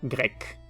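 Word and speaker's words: grecque: igual griego y griega griego se pronuncia grek y griega grek Exactamente igual grek griego grek griega grek y el país Grecia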